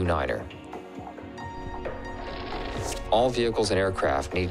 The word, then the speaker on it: nine: at a time and pronounce the number nine as Niner for example to refer to Runway 29 say Runway 2 Niner all vehicles and aircraft